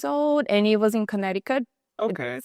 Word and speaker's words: Connecticut: It's spelled Connecticut, but we don't say Connecticut. We say Connecticut.